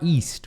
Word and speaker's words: east: East, é um izinho longo.